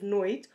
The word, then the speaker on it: noite: in either ways boa noite again we can drop that last e at the end of noid or pronounce it in a very soft way or we say boa